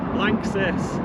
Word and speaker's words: LANXESS: And how do you pronounce it? Lances.